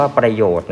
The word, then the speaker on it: ประโยชน์: เช่น ตัว อย่าง กลุ่ม ยก ตัว อย่าง คำ ว่า ประโยชน์ นะ ครับ น นะ ครับ คือ ตัว การันต์ นะ ครับ ส่วน เครื่อง